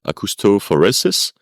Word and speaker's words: acoustophoresis: Yes, so you pronounced it right, acoustophoresis.